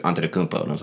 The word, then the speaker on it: Antetokounmpo: I was like, "How do you say Antetokounmpo?" And he's like, "Antetokounmpo."